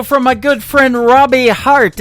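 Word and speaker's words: Harte: That is the latest single from my good friend Robbie Hart. It is H-A-R-T-E on her last name, and that is called Heart in Two Places. Yeah, just like your heart. That's how that's spelled.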